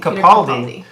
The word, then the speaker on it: Capaldi: Capaldi.